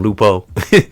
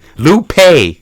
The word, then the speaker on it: Lupe: We spoke on him, but remember I said his name wrong. I call him Lupo. Lupe Fiasco.